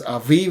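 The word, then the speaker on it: אביב: Al Beth Beth aiv there's no dages here that's why we pronounce as aiv if there is dages then we say abib okay seventh month is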